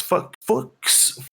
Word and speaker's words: Fuchs: Robbie Sher, an American nuclear physicist who co-invented a key component of the first nuclear weapon with Klaus Fuchs.